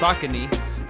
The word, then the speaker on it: Saucony: And a few years ago, I ran into a line of shoes, Saucony, or Saucony, I believe it's pronounced Saucony, the Jazz Low Pro, and there's a whole line of vegan options.